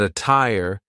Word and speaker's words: attire: But attire is an example of a double T that sounds like a true T.